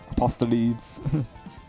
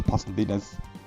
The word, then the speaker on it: Apostolides: Like it's like the guy who plays Leon Kennedy, known as Nick Apostolides. For the longest time I kept saying Apostolides, but no, it's actually pronounced Apostolides.